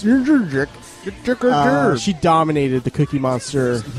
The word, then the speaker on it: Jędrzejczyk: But it's Jędrzejczyk.